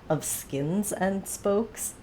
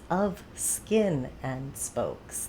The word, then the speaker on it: Of Skin and Spokes: No, I always get this name wrong. I always want to say Of Skins and Spokes because there's just that many S's, and it's wrong. It's Of Skin and Spokes. Like, flesh and blood, skin, spokes.